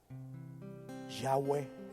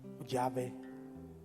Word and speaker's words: Yahweh: Se le añadieron unas vocales para que pudiera Yahweh, Yahvé o Jehová, que es la forma latina de decir Yahweh en griego.